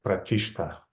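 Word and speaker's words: प्रतिष्ठा: But it's pronounced without stan, it's just pronounced like pratishta.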